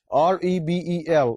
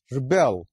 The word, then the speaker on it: rebel: اس میں اگر آپ پہلے syllable کے اوپر stress دیں گے تو اس کا تلفظ ہو جائے گا rebel.